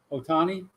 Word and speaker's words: Ohtani: How do you pronounce his last name there, Morty Facts? The dude from Shohei Ohtani. Otani.